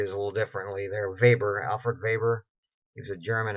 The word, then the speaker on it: Weber: whoever there is a German right so they pronounce there w is a little differently there Weber Alfred Weber gives a German economist least-cost theory